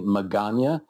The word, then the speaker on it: Magana: For all the listeners, my name is Magana, and it rhymes with lasagna.